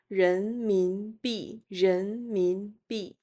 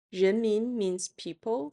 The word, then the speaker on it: 人民币: RMB which comes from the pinyin initials of 人民币 (rén mín bì) 人民币 (rén mín bì).